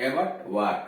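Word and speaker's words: abattoir: से आर जुड़ा हो, यानी ओ आई के बाद आर आया हो, तो ओ आई का उच्चारण वा होता है। जैसे एवटवा, ए बी E double T ओ आई आर, तो वार हुआ है वार, एवट वार, कसाई खाना।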